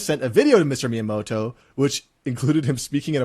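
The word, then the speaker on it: Miyamoto: He pronounced the name wrong. It's Miamoto, not not Myiamoto.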